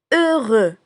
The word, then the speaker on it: heureux: Heureux. Heureux. E avec un H muet comme si on prononce deux.